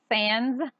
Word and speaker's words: SNS: It's SANS. It shouldn't be SANS, but that's what it's spelled.